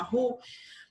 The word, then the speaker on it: roux: O roux, que é assim que se escreve, vocês estão vendo aqui, roux, mas se fala roux, ele é a mistura de um amido mais uma gordura em proporções iguais.